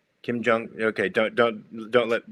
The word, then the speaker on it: Kim Jong: Kim Kim Kim Kim Jong rhymes with dong. Kim Jong.